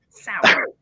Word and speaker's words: Serour: Sour.